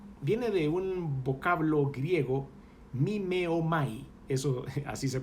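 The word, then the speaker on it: μιμέομαι: e imitar me viene de un vocablo griego me meo my eso así se pronuncia la palabra griega de la traducción de esta epístola me meo my y significa una mímica o actuación el verbo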